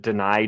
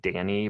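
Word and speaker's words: Dani: Um and again, this this is the name floating around the comments, but deny Dennis Sutton, who I thought was named Danny, but it's Deny apparently.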